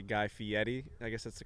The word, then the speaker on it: Guy Fieri: guy fieri who then corrected dave to say guy fieri i guess that's the correct way to say